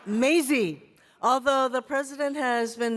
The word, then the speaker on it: Mazie: last name, and then he basically butchered my first name. It's Mazie.